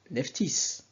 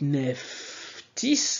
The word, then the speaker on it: Nephtys: le S ok donc quand vous dites Neftis vous voyez bien que le nef tis donc le T et le